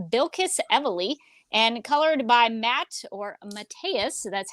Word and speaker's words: Mateus: and inked by Bilquis Evely, and colored by Mateus. That's how he told me to pronounce his name.